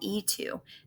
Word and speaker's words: y: group how is that E2 that's a why why isn't it Y2 well because in the Spanish language when the letter y is being used as the word and it is pronounced as e e Tu and this